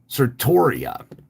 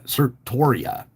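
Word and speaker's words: certiorari: the Supreme Court granted sartoria and I know I'm pronouncing that wrong it's c-e-r-t-i-o-r-a-r-i uh sir Toria the chief archivist of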